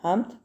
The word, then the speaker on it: hymn: का मतलब होता है हमद, यानी कोई भी अल्लाह की तारीफ़ में कोई तारीफ़ी कलमात कहना, ठीक है, उसको हेम बोलते हैं, हेम। एन को प्रोनाउंस नहीं करेंगे, ठीक है। एन साइलेंट लेटर है, हेम, ठीक है।